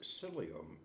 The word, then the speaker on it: psyllium: celium in them and that's spelled with a p it's pronounced psyllium it's starts off with